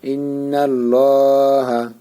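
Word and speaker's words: إِنَّ اللَّهَ: হ্যাঁ, লামটা মোটা করে পড়তে হবে, নাল লাম খাড়া যাবর ল। এই যে এখন পুরাটা উচ্চারণ হয়েছে, এখন পুরাটা মোটা করে পড়তে হবে। লা বলা যাবে না, একালিপ টান এখানে মোটা করে। হা যাবর হা, ইন্নাল্লাহা বাড়ি হবে, মুখ গোল হবে।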